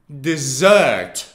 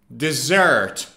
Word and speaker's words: dessert: double s is pronounced dessert dessert now the stress is on the second syllable it's not deserts no it's dessert and it means something